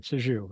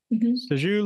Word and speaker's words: Sixu: Sixu. Okay. Yeah, Sixu. Sixu lives in a beautiful Seattle, Washington, with her lovely bichon dog.